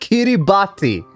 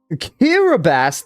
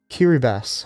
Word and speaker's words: Kiribati: You pronounced it wrong. I'm going to jump you now. How does it How is it pronounced then? Kiraabass. That is crazy. That is crazy. Like, huh? The T makes an S sound.